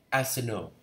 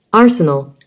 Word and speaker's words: Arsenal: Arsenal. Arsenal. Nhớ âm một nha mấy bạn.